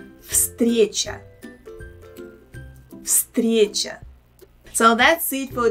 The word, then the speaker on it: встреча: I think it will be better for you to pronounce them if you know that the first letter V here should be pronounced as F. Встреча.